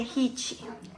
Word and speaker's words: Jichi: of a water God the hichi this is pronounced he that's the name of